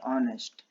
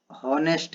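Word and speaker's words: honest: भले ही ये देखने में हमें लग रहा है हॉनेस्ट है, कुछ लोग हॉनेस्ट पढ़ते हैं, तो ये जो प्रोनाउंसिएशन है ये गलत है। प्रोनाउंसिएशन इसका होता है ऑनेस्ट होता है।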